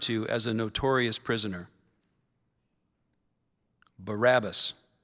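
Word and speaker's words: Barabbas: The word is Barabus.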